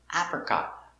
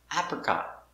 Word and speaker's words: apricot: let's practice apple apple apricot apricot also we see the stop t here not apricot but apricot apricot alligator alligator action